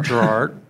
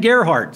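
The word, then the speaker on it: Gerhard: Gerard. Oh, that's right. And Ken Gerhart. Sorry, Gerhart. Ken.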